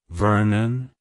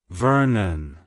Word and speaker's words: Vernon: Norman French and derived from a place called Vernon it's pronounced as Vernon Vernon Vernon to pronounce it correctly emphasize the B and the